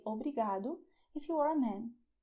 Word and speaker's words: obrigado: Pay attention that in Portuguese we have this sound of the letter R which is "OBRIGADO". In English, you roll your tongue when you say, for instance "rice". When you say "rice", your tongue bends backwards. And in Portuguese, we do not do that, even though in some regions people do that.